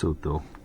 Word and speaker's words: Lesotho: right so that's lutu so it's written out like loto but that's how you pronounce it lutu for the uh lutu